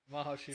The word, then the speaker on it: Mahashivaratri: Mahashivaratri, Yeah, Mahashivaratri.